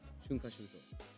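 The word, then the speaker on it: 春夏秋冬: Haru, natsu, aki, fuyu, all put together, smashed together, and the word together is pronounced shunkashuto.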